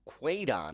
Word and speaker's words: Quedan: I would worry more about a tropical depression Quedan, I do believe that is how it's pronounced.